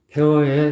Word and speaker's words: 폐허: 그 폐 발음은 입을 모아가지고 완전히 담은 상태에서 두 입술을 비벼주면서 터트려주는 거예요.